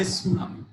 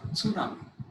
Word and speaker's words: tsunami: Similarly, T-S-U, the ta sound is silent. We say tsunami. We say tsunami.